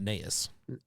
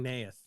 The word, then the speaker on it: Neith: Well, her name's not Neis. How do I know? You don't. It sounds like you're mispronouncing Neith.